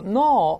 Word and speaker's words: gnaw: 像老鼠用牙啃出一个洞，野兽或老鼠啃叫 gnaw a hole。G-N-A-W G is silent， G 不发音的，叫啃一个洞，哎。